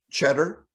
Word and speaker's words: Cheddar: get those results now help me to pronounce the kid's last name uh will cheddar cheddar yeah okay yeah like like cheese like cheddar even though it's called tsp okay will cheddar um okay